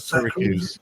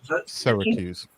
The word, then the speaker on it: Syracuse: annoying comfy day H how you pronounce that Syracuse Syracuse okay go to America I